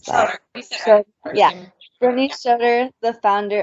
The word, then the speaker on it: Schroeder: How do I pronounce that? Schroeder.